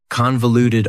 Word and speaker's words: convoluted: Convoluted also has 4 syllables, and the stress is on the first syllable. Convoluted. That second syllable again has that schwa sound, that reduced vowel sound.